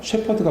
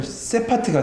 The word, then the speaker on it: 셰퍼드: 여러분 이 셰퍼드란 말 발음 조심하셔야 돼요. 셰퍼드가 목자거든요. 그런데 강하게 해야 되면 세파트가 돼요. 그러면 뭐가 돼요? 개가 되잖아요.